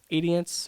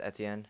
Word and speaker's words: Etienne: Edience or something. Edian or I don't know, but he had. Travis Etienne.